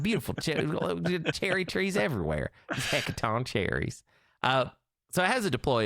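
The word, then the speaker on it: Hecatoncheires: The Hecaton cherries. That's correct. That's if you're wondering about the pronunciation there, I actually nailed that 100%.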